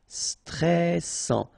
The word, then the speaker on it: stressant: Final T not pronounced. A and together. En, and then double S. Sans. And it will open the pronunciation of your E, so E. Stressant.